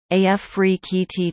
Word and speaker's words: Afrekete: Africa at work from home jobs pronounced AF free KT total Med Link in